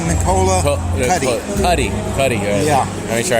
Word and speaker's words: Nicola Cuti: It's pronounced Nicola Cuti.